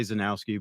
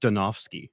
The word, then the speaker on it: Zdunowski: In America, we say Zenowski, but in Poland, it's pronounced Stenovski. Oh, yeah. Well, is it really taken back by that? Yeah, it is. What's up with the ZD then? Uh, the D silent.